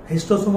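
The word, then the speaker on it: Schistosoma: हिस्टोसोमा बोलने में एच आई एस टी ओ एम ए होना चाहिए, स्पेलिंग होता है एस सी एच आई एस टी ओ एम ए, हिस्टोसोमा।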